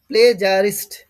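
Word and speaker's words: plagiarist: এই উচ্চারণটা অনেকে ভুল করতো। প্লেজারিস্ট প্লেজারিস্ট।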